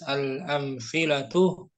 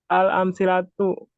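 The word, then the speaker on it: الأمثلة: Akhi Abu Uwais al-amfilatu. Amsilatu. Yang benar. Oh ya. Amsilatu. Bukan tapi Al-amsilatu. Nah, pelan-pelan aja bacanya. Iya benar. Al-amsilatu.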